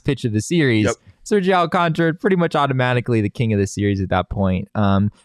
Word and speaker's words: Sergio Alcántara: I always want to say it the way it's spelled. Sergio Alcántara.